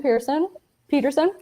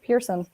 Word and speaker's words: Peterson: So this is made by Annabelle DeButton Peterson. Why do I always say Pearson? I always skip a syllable on her name.